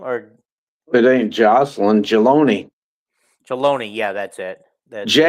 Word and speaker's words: Jelani: Or it ain't Jocelyn, Jaloni. Jaloni, yeah, that's it. Jaloni. Jaloni. Okay. Easy to read and easy to pronounce.